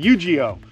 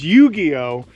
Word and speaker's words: Yugioh: and so is yugioh i've been saying his name wrong in the video i've been calling eugeo but it's yugioh and uh there he